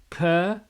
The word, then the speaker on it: Cernunnos: Well, first of all, it's pronounced Cernunnos.